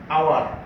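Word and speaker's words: hour: আওয়ার এইচ দিয়ে শুরু হয়েছে, কনসোনেন্ট দিয়ে শুরু হয়েছে, বাট এর উচ্চারণটা ভাওয়েলের মতো, এই জন্য এর পূর্বে এন বসবে।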